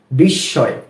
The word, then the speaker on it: বিস্ময়: কি হয় বিষ বিষয় এখানেও কিন্তু আমরা দেখতে পাচ্ছি যে সের উচ্চারণটা দুইবার হচ্ছে একবার বিষ তারপরে সয় বিস্ময় বিস্ময় অনেকেই আমরা শিক্ষিত